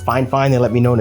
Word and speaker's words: Fifine: out that fine fine microphone and i know it's spelled fee fine on the box but it's actually pronounced fine fine they let me know in an email so